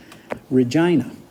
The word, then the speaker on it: Regina: exactly halfway between here and bamp is called Regina that's how they say it so anyway uh